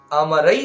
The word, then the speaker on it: অমরৈ: এখানে মমরৈ লিখা আছে, ওটা অমরৈ উচ্চারণ করবেন।